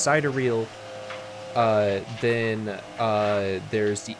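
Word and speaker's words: sidereal: three systems uh uh I always forget how to pronounce this one correctly but I believe it's cideral uh Then uh there's the International Astrological Union.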